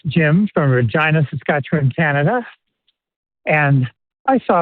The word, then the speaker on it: Regina: years ago, he said it's the city that rhymes with fun. But why don't we say Regina the way that so many people would pronounce that word? Why is it Regina?